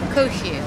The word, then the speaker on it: Cohu: How do you pronounce this name? Cohu. Sorry. It's odd. It's French.